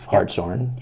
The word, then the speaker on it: Hartshorn: So you met, I'm sure a lot of our viewers know Dave Hartshorn. Yep. The And legendary. you pronounced it correctly too.